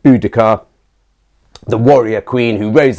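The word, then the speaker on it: Boudica: famous obviously for um mainly for bodhia is what they called her in Victorian times we're now we're now a bit more certain that the correct pronunciation would probably been more like budika the warrior Queen Who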